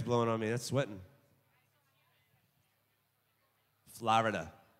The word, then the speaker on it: Florida: If you're from here, you say Florida. Not Florida. Two syllables, Florida.